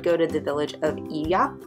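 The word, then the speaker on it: Oia: to the Village of Iya it's o i a but it's pronounced e crazy crazy crowded this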